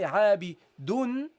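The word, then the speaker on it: عابدٌ: but the second one, which is an indicator for the noon that you pronounce but don't write, because you say عابدun. You see, you hear a noon.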